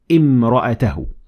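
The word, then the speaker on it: امرأته: But if I started at the word, I will say imra'atahu.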